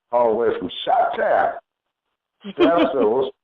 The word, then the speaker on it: Stephstaa: Stephstaa. Yes, I like saying it like that. Because that's Bernie Mac, you know what I mean? You got to say it like Bernie Mac said it, Yeah.